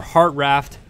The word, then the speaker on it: Hartranft: then shout out Brandon Hartranft who or heart raft heart ramped whatever you want to call it people say the N is silent don't know how the end can be silent in the middle of all that jumble but anyway heart